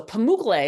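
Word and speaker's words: Pamukkale: So, Pamuk is how you pronounce that. It means cotton castle in the in the Turkish language.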